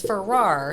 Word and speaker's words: Farrar: a little bit because i did not pronounce that right when i yeah it's for rar so you know the